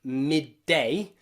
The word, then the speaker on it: midday: to this rule okay the exceptions here are words like midday midday okay in the word midday you've got two d's okay midday and in headdress headdress something special can happen here though in the first word midday you probably notice that that first d is a little bit too soft we use something here